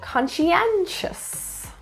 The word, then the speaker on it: conscientious: Stress is in the third syllable, conscientious.